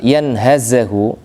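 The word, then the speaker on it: يَنْهَزُهُ: Kalimat yanhazahu dengan difathakannya ya, difathakannya ha dan zai, berarti yanhaza, Pak ya.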